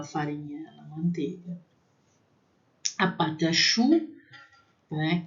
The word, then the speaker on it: pâte à choux: A patachu, né? Que às vezes falando rapidamente que é patachu, parece que é pata, né?